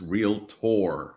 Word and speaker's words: Realtor: I'm sorry, I have to correct. It's Realtor.